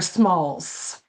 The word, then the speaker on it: Small: But when you're speaking gulla, I would imagine Adam would say I my name Adam small and you would not really pronounce the s on the end as a gala speaker.